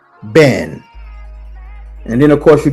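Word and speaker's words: בן: The son is called ben. It rhymes with hen or men.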